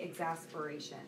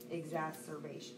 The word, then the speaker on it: exacerbation: And they have periods of remission in, I always say exasperation, but I'm not exasperated. Exacerbation.